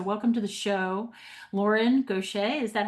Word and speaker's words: Goché: So, welcome to the show, Lauren Gocha. Is that how am I pronouncing your name correctly?